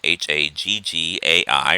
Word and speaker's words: Haggai: we are introduced to haggai h-a-g-g-a-i or haggai probably is more like how you pronounce it and zechariah who are